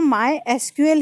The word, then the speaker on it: MySQL: में इसको माई एसक्यूएल नहीं प्रोनाउंस करते, इसको प्रोनाउंस जो करते हैं वो माई एसक्यूएल ही करते हैं।